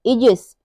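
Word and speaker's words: aegis: एई का उच्चारण हम एई का उच्चारण हम ई करते हैं एग्जांपल है एई ओ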